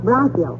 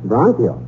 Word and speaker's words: bronchial: get stopped up and it's pronounce bronchial bronchial and what was that